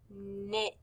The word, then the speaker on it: knit: and knit knife knit both of these words begin with the k n but since the k is silent we just hear the knife knit great job on this